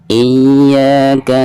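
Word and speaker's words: إياك: Iyyaka na'budu wa iyyaka nasta'in. Nah, di sini harus ada tekanan dari hamzah, kasroh hamzah ke ya. Iya itu supaya makhrojiannya dafat ya. Iyyaka na'budu wa iyyaka nasta'in.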